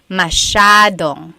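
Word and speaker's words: masyado: do you pronounce mashad mashad means a lot so the s y a is a Sha Sha sound masad yep EJ said gami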